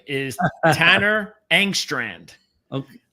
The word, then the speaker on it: Engstrand: How to pronounce his name is Tanner Engstrand. Okay, Engstrand. So, Engstrand.